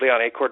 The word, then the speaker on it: Acord: You pronounced my name correctly with no coaching whatsoever. Well, you're not a Honda Accord. So if your first name was Honda, I would say hello, Mr. Accord.